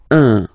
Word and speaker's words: un: without any doubt, but you've got to pronounce it like un. So it's what we call the nasal, so it goes in your nose, okay? So if you listen to me, you don't hear any N, okay?